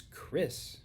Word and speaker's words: Chris: If you take my name, which is Chris, it doesn't sound like ch, does it? What does it sound like? Very good. It sounds like a k.